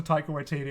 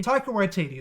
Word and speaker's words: Taika Waititi: one hundred percent accurately take away td that's how i say it that's how i think it's pronounced but if it's not